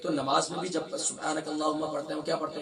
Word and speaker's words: سبحانک: سبحانک اللہم، سبحان نہیں ہے، سبحانک، سبحانک، نون کو شارٹ ساؤنڈ